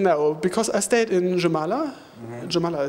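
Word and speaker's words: Jūrmala: because I stayed in jamala jamala it's pronounced Uma is pronounced the J is like a y but you're in Germany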